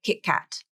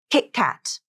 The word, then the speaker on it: KitKat: with a consonant Bingo now you have a stop T in that first syllable KitKat not KitKat this also happens when